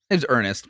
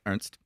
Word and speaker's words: Ernest: And to be fair, this guy, Sir Ernst, Henry Shackleton, Ernest, pronounced Ernst.